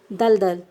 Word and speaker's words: दलदल: हम लिखेंगे इसको पूरा, लेकिन जब हम उसका उच्चारण करेंगे ना तो आधा करेंगे, मलमल, दलदल।